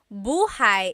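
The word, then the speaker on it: buhay: Shir said I always make a mistake with bah and so bahigh is house buhai is your life.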